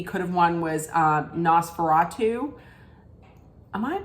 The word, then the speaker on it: Nosferatu: felt like maybe could have won was um NOS veratu am I pronouncing that correct Nosferatu yeah um but the substance wins for um